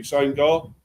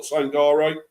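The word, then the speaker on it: Sangaré: That's that's how you pronounce it, Manny. Sangar. It's not Sangare, it's Sangar, his name.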